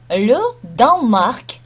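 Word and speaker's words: le Danemark: Ле Данмарк. Ле Данмарк. То есть здесь, как мы видим, не читается Данемарк, а читается Данмарк. Ле Данмарк. То есть «э» здесь не звучит.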